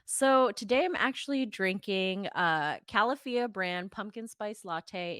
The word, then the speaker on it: Califia: But Califia is called, and that's the correct pronunciation, not Califia or whatever people call it.